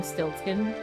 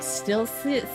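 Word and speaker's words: Stiltzkin: When I was younger, I had so much difficulty pronouncing Stiltskin. You know, like, it's like Rumpelstiltskin, right? But seeing it by itself, I was always like, Stilshin, like, I was so bad at pronouncing it.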